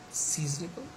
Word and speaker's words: seasonable: Okay, then we have got like for example season, the first syllable is stressed, and seasonable, the first has got stress, okay.